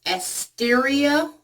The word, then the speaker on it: Asteria: The company, I believe, is pronounced Asteria.